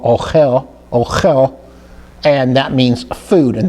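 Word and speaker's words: אוכל: that means food, and that's spelled with an aleph and a vav that gives us the o sound, and then we have the kaf that gives us the chaf sound, ochel, and then followed by the lamed.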